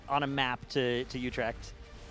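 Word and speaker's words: Utrecht: but we're also having the EU team in Utre. Yeah, the pronunciation there, Jack.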